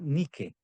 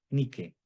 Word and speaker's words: Nike: ropa, que se llama Nike, Nike, ¿verdad? Zapatillas Nike, o creo que también hay ropa Nike o Nike. En realidad sería Nike. Solo que nosotros lo pronunciamos a la gringa, Nike, ¿verdad?